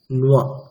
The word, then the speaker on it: নৈব: দেখুন কি কি আছে, অশোচ্যা ন, তারপরে নৈব, তাহলে ওটার উচ্চারণটা কেমন হবে? নুয়া। অশোচ্যা ন নুয়া, ন নুয়া। নয়বায়ের উচ্চারণ কেমন হবে? যেমন তয়বায়ের উচ্চারণ হয় তুয়া, সেরকমই নয়বায় নুয়া।